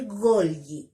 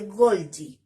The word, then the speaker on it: Golgi: se llama aparato de Golgi o aparato de Golgi, ¿ya? Cualquiera de las dos formas de pronunciar es correcta, a mí me gusta más de Golgi.